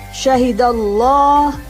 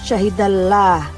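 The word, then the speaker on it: شَهِدَ اللّٰهُ: keduanya terdengar bunyi Om jadi membacanya Syahida llah bukan syahidah lah tapi syahidallah salamuwloh Kemudian kapan lamjalalah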